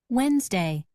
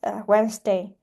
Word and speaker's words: Wednesday: We have 2 letter D here, and the first letter D is silent in the word Wednesday.